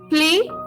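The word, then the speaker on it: plaît: praise we say play the last t of the last word play is not pronounced seal roof play planes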